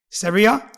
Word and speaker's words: Saria: well-known single mom online, Syria. How are you? Did I say your name right? Yeah. Brilliant. It just spelled like that. I thought it might be Sarah. Sera. Everyone says it wrong.